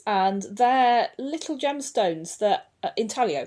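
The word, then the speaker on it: intaglio: Um, another thing that I found a lot of is inaglios in drains, and they're little gemstones that Inalio, that's how you pronounce it actually.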